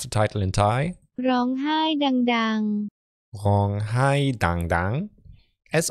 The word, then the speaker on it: ร้องไห้ดังๆ: Executive produced by your boy TJ, and I want to know how to pronounce the title in Thai. Rong hai dang dang.